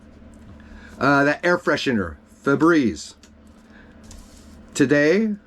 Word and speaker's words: Febreze: That air freshener, Febreze. Today, it's spelled F-E-B-R-E-Z-E. If you go look at Febreze, it's F-E-B-R-E-Z-E. Well, no, I remember Febreze, like breeze, like a blowing breeze.